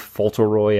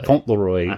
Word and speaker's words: Fauntleroy: it's called the Lord Fauntleroy outfit or something like that. Or Fauntleroy. Yeah, I think that's actually the correct pronunciation.